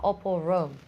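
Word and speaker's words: Opall-Rome: And Barbara Opel-Rome.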